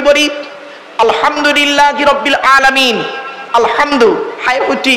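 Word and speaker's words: الحمد لله: আলহামদুলিল্লাহি রাব্বিল আলামিন। আলহামদু, হাই উঠি, হাই হাব্বাজ নয়, আলহামদুলিল্লাহি রাব্বিল আলামিন। আলহামদুলিল্লাহ, গলার ভেতর থেকে হ্যাঁ এটা উচ্চারণ করবেন দয়া করে।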